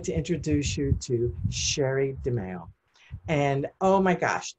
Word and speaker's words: Sherré: I've always called you Sherré. That's Sherré.